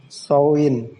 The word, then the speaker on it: Samhain: Halloween's origins date back to the ancient Celtic festival of Samhain, pronounced Samhain.